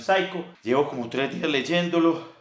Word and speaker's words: Psycho: Mire, dice como picho, y yo no sabía cómo pronunciarlo. Yo decía sicho, picho, Colombian Psycho, no sé. Y después averigüé, es Colombian Psycho.